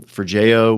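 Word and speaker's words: Forgejo: One of the uh both git t and forjo is how did you pronounce it?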